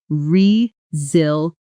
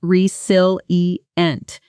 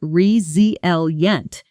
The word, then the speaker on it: resilient: Rezilient. The stress is on the second syllable. And notice that the s in the middle actually sounds like a z. Not resil eent spoken slowly and choppily, but rezel yent. Smooth and connected.